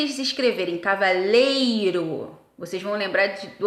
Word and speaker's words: cavaleiro: não são tá bom na verdade elas são paroxítonas a sílaba tônica é a penúltima cavaleiro e cavalheiro tá é o e